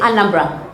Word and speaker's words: Anambra: Anambra State. Am I saying it right? Anambra? Yes. Anambra. Yes.